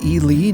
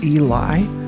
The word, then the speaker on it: Ely: the side of the cliff elely Nevada is pronounced Eli not Eli elely is yet another mining town in Nevada